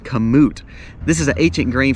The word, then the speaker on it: kamut: Third would be kamut, or kamut. I call it kamut because we're in South Mississippi, but it's pronounced, I think, kamut.